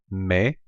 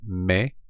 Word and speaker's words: me: are they in Spanish the first one is May and I encourage you to say it after me so you can practice your pronunciation so me and Spanish or to me is May you familiar is day-day